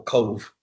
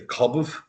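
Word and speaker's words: Cobh: pronunciation or places like as you like the example Cove they can't get that BH the cobb coet yeah they can't get that name are you [clears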